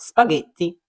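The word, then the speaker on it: spaghetti: у словах джелато джорнале але якщо між д Та голосною і або е з'явиться Ака то маємо г як у словах спагеті фунги правда не складно Якщо хочеш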